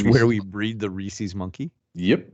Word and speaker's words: Reese's: Because people who say Reese's make me want to put an ice pick through my eye. It's Reese's. It's not Reese's.